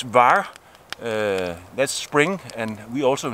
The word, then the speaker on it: Vár: Old North and yeah it's very difficult to pronounce but it's VAR that's spring and we also in Denmark call